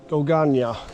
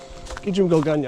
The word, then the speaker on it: Gulganyi: Gum Gana. Gum Gana.